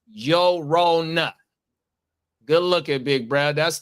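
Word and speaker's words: Llorona: Yeah, the double L makes a Y sound in Spanish.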